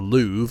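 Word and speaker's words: Louvre: The Louv I think it's pronounced the R I think is silent but anyway that's correct.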